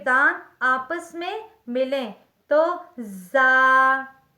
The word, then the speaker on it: ز: آپس میں ملیں تو زا زا زا ادا ہوتا ہے سین سین سین سین